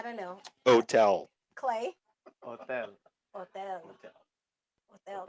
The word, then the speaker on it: hotel: Hotel. Hotel. Hotel. Remember the H is silent.